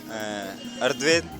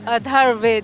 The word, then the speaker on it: अथर्ववेद: सामवेद, ऋग्वेद, अर्धवेद और यजुर्वेद। बिल्कुल ठीक कहा। थोड़ा सा प्रोनाउंसिएशन में प्रॉब्लम है, लेकिन आपने बिल्कुल सही कहा है। ऋग्वेद, सामवेद, यजुर्वेद और अथर्ववेद, बिल्कुल सही आपने चारों वेदों के नाम बताए हैं।